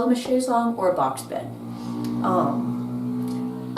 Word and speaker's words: chaise longue: it's a long chair it is not to be pronounced Chase Lounge which is a terrible American mispronunciation although that is still